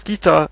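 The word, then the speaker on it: 北: And then I found this, which you pronounce as kita and which means north.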